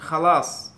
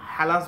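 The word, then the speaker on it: خلاص: তারপর হচ্ছে খালাস। খালাস খালাস খা দিয়ে আরেকটা শব্দ বলা যাচ্ছে খালাস। খালাস খালাস, আপনি যদি এখানে হালাস বলেন হবে না, আর হালাস বললেও হবে না, এটাকে খা খালাস বলতে হবে।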